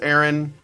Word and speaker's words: Aaron: Uh, it says, um, my actual name is indeed pronounced Aaron.